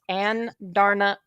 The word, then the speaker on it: Andarna: It's pronounced An Darna Urim. So Andarna Urim is how you pronounce that, which I was just like, that's a lot of ooh, and that's like, thank God.